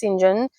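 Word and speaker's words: St. John: um three siblings there's Saint John which is pronounced Sinjin and Diana and Mary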